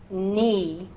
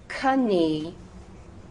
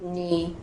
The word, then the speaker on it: knee: that sort of thing, that word is pronounced knee or night. But William Wallace and all his cronies, his buds, they would have said knee, night. But language evolves, and so now we just say knee or night.